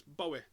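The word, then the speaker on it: Bohui: Now, Bowie, that's the B-O-H-U-I, and everyone's been struggling how to say it, Bowie, and well, I spoke to one of the players and he said it's Bowie, like David Bowie.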